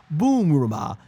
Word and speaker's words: Bulma: That lines up with how Bumma Bulma's family's name works because in Japanese her name is pronounced Boomma which comes from Bloomers which is why you often hear me say Bumma Bluma or Bumma aka Bulma.